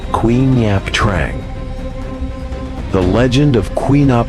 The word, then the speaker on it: Quy Nhap Trang: Queen Yap Trang. Roughly the corpse possession demon pronounced Queen Yap Trang.